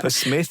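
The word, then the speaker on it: Psmith: P. Smith. It's written P. Smith with an extra P. And he said, no, the P is silent, as in shrimp.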